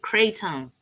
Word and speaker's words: kratom: played with at all kratom okay that's how you say it kratom and what does it